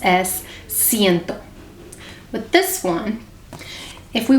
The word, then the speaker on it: ciento: And it's pronounced as ciento.